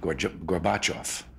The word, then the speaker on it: Gorbachev: in a pronunciation because they were pronouncing it gorgeous back off instead of Gorbachev so I'm going to